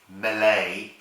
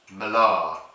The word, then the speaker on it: Mélée: It isn't pronounced Malay. It's pronounced malar in Gernzi French.